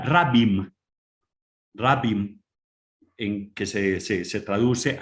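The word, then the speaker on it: רַבִּים: Y es que nos metimos a tocar un término que en hebreo se pronuncia rabim, rabim, en que se traduce al griego poloi, que tiene distintas traducciones y que San Pablo usa y mucho.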